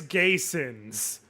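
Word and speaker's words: Gheysens: His Chris Gayens. Now, to be clear, Gayins in this particular equation is spelled G H E Y S Ns.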